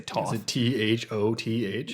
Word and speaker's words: Thoth: got a couple here Toth maybe it's off that's sounds weird I don't think it's pronounced like that I'm gonna say th o th yep that's Thoth all rights off so